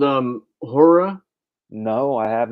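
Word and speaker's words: Ho99o9: or so and um this band hor like they actually spell their name H I mean it's it's hor like ho o r r o r but the way that they spell it is ho9909 oh NE yeah yeah yeah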